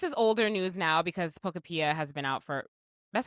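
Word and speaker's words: Pokopia: Well, this is older news now because Poctopia has been out for That's how you say it, right? Pocapia.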